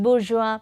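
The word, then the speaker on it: bourgeoisie: poor class this Rich class is called the boura this is how this word is pronounced bua and this poor class is called the proletaria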